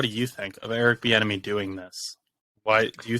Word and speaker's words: Bieniemy: Bieniemy with a B. Bieniemy. Okay, yeah. Bieniemy. It's not an enemy. It's not Finding Nemo. It's that Bieniemy.